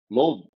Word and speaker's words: Louisville: All We right, say it Lulvul.